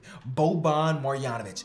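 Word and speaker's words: Boban Marjanović: name and he said you said it perfectly bo bon marianovic he told me that it was perfect so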